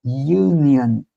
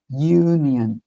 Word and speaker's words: union: Na verdade eu tenho um som de Y e Y é consoante.